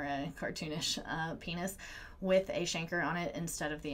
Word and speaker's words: chancre: more similar to canker but it is actually pronounced a chancre and these Shanker's are ulcer like lesions with